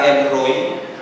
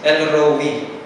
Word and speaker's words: El Roi: Ang iba El Roy pero ang talaga daw pronunciation is El Roe.